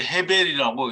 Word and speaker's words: 아벨: 형제를 더 나았는데 액트 아벨이고 물론 이제 헤벨이라고 읽어도 되죠 아벨이고 그는 하야하고 하야하는데